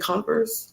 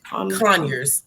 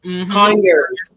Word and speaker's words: Conyers: Is it Converse? Conyers. Conyers, Georgia.